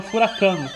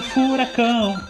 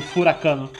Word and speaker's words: furacão: meses da minha vida achando que a palavra furacão se pronunciava furacano, porque a música começava com "Aí vem o furacão". E aí quando enrolava um pouquinho no vocal, dava uma esticada nesse ó, eu entendia como furacano.